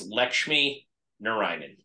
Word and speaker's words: Lakshmi Narayanan: to pronounce it absolutely it's actually really easy it's just it's Lakshmi Narayanan if you just break it in half all right thank you